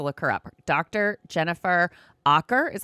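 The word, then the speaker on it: Aaker: Jennifer Aer is how you pronounce her last name.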